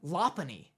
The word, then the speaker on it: Lopunny: You want to give me that first syllable again? Lopunny. What is it, Lope? It's Lopunny. Lopunny? It's Lopunny. Why? Where'd you get the A? It's just like a soft U or a... No, it's just O.